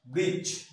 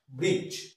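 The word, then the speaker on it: bridge: before G এন্ড জে জি এবং জে এর সামনে যদি ডি আসে তাহলে সেটা সাইলেন্ট যেমন বি আর আই ডি জি ই ব্রিজ ব্রিজ তাহলে ডি এর উচ্চারণটা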